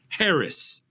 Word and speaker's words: Haracz: So you just type in my last name and it's spelled just like it sounds. Haracz, Harris. I mean, it's just like it.